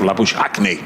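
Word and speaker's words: Labuschagne: australian but it's very common there and it's pronounced la bush acne james in bowls or again that's that one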